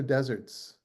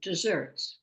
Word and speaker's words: deserts: So how desserts is supposed to be pronounced. Is it supposed to be desserts or deserts? no, desserts. Deserve, Desserts. right. Even though it has one S, yeah. So coming from the word deserve, probably.